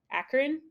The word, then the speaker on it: Akron: So between Cleveland and Akron, Akron. cool. I did it. Um, I pronounced it right.